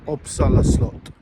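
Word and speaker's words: Uppsala slott: welcome to uppsala Castle or as the locals say common till oppsala slot the latest iteration of this remodeled Castle now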